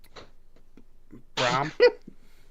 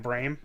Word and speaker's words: Brom: Who for the past 5 years I thought was Matt Brame, but apparently not. Yeah, right? Even though that's what his bio says his name is. Pronounced Brame. But it's Brom, according to his own team's. Okay, Brom.